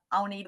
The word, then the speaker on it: Agnethe: here my name is the Danish version of it is Ani that might confuse you with the way it's spelled and don't worry about